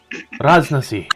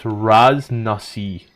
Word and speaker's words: Raznasi: I'm gonna stick with Razni, but it's Raznasi. Nasi? Yeah, Raz Na Si is the official pronunciation.